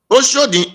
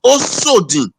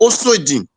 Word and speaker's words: Osodin: Oshodin is a Yoruba pronunciation of Edo word. It's Osodin. Don't call it Osodin. The Yoruba pronounce it as Oshodin because there is no H in it. But people are now using H to spell it. It is called Osodin.